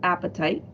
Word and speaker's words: apatite: find a couple um blue apatite which just seems really funny that it's appetite but it's not spelled the same some topaz would be